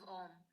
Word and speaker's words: Om: home the origins of om bone consists of three syllables the syllable ah the syllable in the syllable um form originated from the